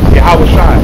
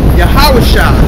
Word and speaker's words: Yahawashi: Yahawashi. Yahawashi.